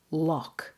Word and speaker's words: lough: The next word is pronounced lough, L-O-U-G-H. We don't use that word very often. It's mostly used to describe lakes in Scotland and Ireland. Lough. It's pronounced exactly the same way as L-O-C-K.